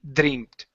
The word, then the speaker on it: dreamt: You're saying dreamt. Okay, so with the DR, you want to pronounce a JR sound. Okay, so instead of saying dri, it's jr. Push your lips out.